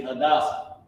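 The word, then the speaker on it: Hadassah: hadasa which is um her name is actually hadasa I actually have it uh I'm think I'm doing a pronunciation actually have it her name in English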